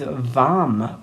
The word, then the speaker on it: vam: toned um one syllable Sanskrit Mantra is vam with a v v v breathing in